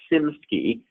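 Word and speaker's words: SiMSCI: quickly the nickname was sim ski so si msti basically it was a short way of pronouncing Singapore si MSCI so sim ski we've mentioned it a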